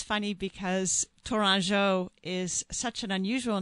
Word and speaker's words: Tourangeau: pronounce it American style, but of course in French it's Tourangeau. Oh, how pretty. Yes, and but for those of us listening here in America, to remember it, an easy phonetic hint is banjo.